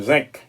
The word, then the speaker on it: zinc: Mon en anglais le zinc, yo prononce C a yo même.